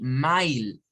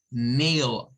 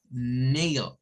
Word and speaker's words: mail: El AI en inglés no suena como tal, sino que suena como A. Por eso es que no decimos mile, sino que debemos decir mail, mail.